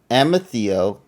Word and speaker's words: Amethio: amethio is there waiting think about the rock amethyst but then take out the fists and replace it with Theo amethio amazio okay mfeo a